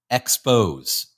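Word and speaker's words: Xpoz: students into becoming anti-semites is a company called expose which is spelled XP o z Expose and would you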